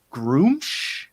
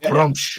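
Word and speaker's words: Gruumsh: I learned that um the god of the Orcs is groom groom yeah not grum man like come on I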